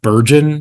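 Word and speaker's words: Bergen: um it is a I think they pronounce it buron swamp b r g n it's this old growth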